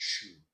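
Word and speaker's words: שוב: There's a Hebrew word that I absolutely love, and it's pronounced shuv.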